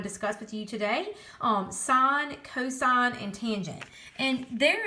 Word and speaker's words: sine: We abbreviate it by just doing sin like that, and some people think it's the word sin, but it's not. It's pronounced sine.